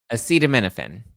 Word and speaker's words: acetaminophen: It's the use of um how do you pron acetaminominophen acetam you pronounce this? Um acetaminophen. Acetaminophen.